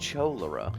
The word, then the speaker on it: cholera: No, Hey, that's pronounced cholera.